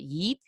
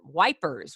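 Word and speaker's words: Ypres: cry there's mes there's yeep which nobody knows how to pronounce you'll hear it yeep you'll hear it you'll hear it wipers when the British are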